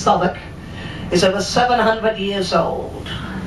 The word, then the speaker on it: Southwark: So the cathedral on the left-hand side, I know it's spelled Southwark, but it's still pronounced Southwark, is over 700 years old.